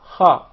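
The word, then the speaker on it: خ: The letter Kha, the mechanism is to precede this letter with a Hamza, and we put a Fatha on top, so it will be A. Then apply a Sukoon, you see this Sukoon on top of the letter. Then pronounce the two letters together, say them together with the proper vowels which we chose.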